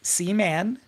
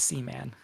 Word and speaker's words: Seaman: I would Leonard Nimoy notice that he pronounces it Seaman we're gonna try to do the same it's it's c-man all right uh yeah